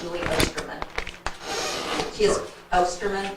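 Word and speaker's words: Ostermann: Um since I have this chance to say her name, I would like our newly hired teacher She is Osterman.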